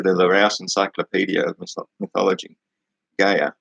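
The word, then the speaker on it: Gaea: According to the Larousse Encyclopedia of Mythology, Gaia, they spell it G-A-E-A, that's what I'm pronouncing it, Gaia, not Gaia, however, would not resign herself to the defeat of her children.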